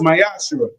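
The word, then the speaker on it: מעשר: You can find it in numbers 18 verse 21 in Malachi 3 8-10 means 10th in Hebrew is pronounced myashu 10% of every penny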